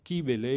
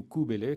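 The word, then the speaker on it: Κυβέλη: Mais Kabbale, c'est référent au grec kibélé ou koubélé, comme on devrait prononcer, c'est-à-dire la nature elle-même.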